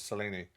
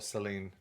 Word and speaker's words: Selene: No, the only one that I can think of is Selene or Celine, depending on how you pronounce it and who you talk to.